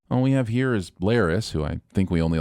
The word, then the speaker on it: Larys: All we have here is Larys, who I think we only like because his name rhymes with Varys, and a selection of blank faces that the show has given little to no personality.